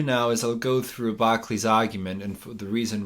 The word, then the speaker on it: Berkeley: Because for Berkeley, I always keep pronouncing it wrong because of the American mispronunciation. Berkeley, the existence of matter itself is absurd for him.